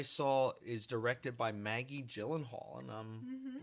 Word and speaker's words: Gyllenhaal: Gyllenhaal. J. You can say G. You'd be saying it wrong.